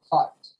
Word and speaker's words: thought: Aunque esa palabra tiene como 7 letras, solo se pronuncian 3. Z-O-T. Thought. But I thought. La TH es la Z. La O-U-G es la O. Y H-T solo es la T.